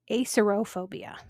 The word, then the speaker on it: acerophobia: This next one has two different pronunciations and spellings depending on what book you're looking at. Acerbophobia or acerophobia.